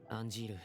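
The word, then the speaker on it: Angeal: M yeah Anjil that's the name of the mentor. So now we know that we pronounced it correctly.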